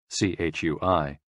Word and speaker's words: chui: CHUI, pronounced like chui, with a forceful exhale, which is also associated with the kidneys.